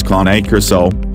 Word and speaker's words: Cane Corso: In this following video, if you are struggling to choose between a CANECORSO, phonetically pronounced as CANECORSO, and a Tosa Inu,